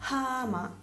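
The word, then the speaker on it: 하마: La hie invece è una H aspirata, quindi va sempre pronunciata. Per esempio abbiamo hama, non è ama, che vuol dire forse, ma hama è ippopotamo, quindi capite che c'è una differenza reale.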